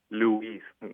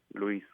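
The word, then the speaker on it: Luis: in that case um you being a speak English speaker it'll be Louise there's an emphasis on the u m and Spanish is just Lis l l very good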